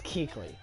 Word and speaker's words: Kuechly: Like, people watching this, do not comment and say you're saying his name wrong. It's Kuechly. Do not say it's Kuechly or anything like that. I literally was listening to the announcers pronounce his name.